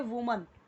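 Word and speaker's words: women: इसी तरीके से जब हम बात करते हैं वुमन, वुमन जब बोलते हैं तो वो होती है एक वचन. और जैसे ही हमने किया वीमेन, वीमेन, आप चेक कीजिए, आप देखिए प्रोनाउंसिएशन भी चेंज हो गया.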